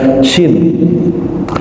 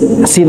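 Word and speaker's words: ش: bisa huruf Shin, ya Shin. Ada 2 orang seingat saya. Jadi Shin dibacanya Sin aja biasa gitu kan. Shashi Subash. Enggak Pak, dia bilang gini, Sasi Subas bukan Pak, bukan sa tapi sya.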